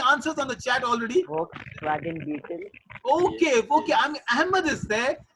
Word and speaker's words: Volkswagen: All right, it's a Volkswagen. You know, Ahmed's right, but the pronunciation so lovely. Yeah, you don't say with the V, you say with F, right?